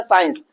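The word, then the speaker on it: science: अब यहां पे देखिए हमारा जो सी है वो कहां आ रहा है? एस के बाद आ रहा है। क्या आ रहा है भैया? एस के बाद आ रहा है। तो यहां पर हम क्या करेंगे? सी को क्या करेंगे? साइलेंट रखेंगे।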